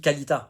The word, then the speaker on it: Kalita: une méthode et donc on dit kalalita voilà on dit pas Kalita voilà c'est kalalita si tu veux vraiment le proncer correctement mec fais ça bien mais